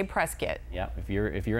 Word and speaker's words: Prescott: and now I know that I better say Prescuit and not say Prescott because Ding ding. Yes. You're in Arizona, you better say Prescuit.